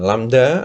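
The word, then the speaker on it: λ: Yang V sama dengan lambda itu bacanya lambda ya, dikali F kecil ya.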